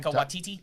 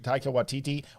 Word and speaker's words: Taika Waititi: Taika Waititi. Taika Waititi was going to be the bad guy in the Free Guy movie.